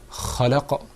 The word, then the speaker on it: خلق: I feel like I didn't hear that sound from you, that you were articulating it completely. Okay. So could you say the word khalaq? خلق.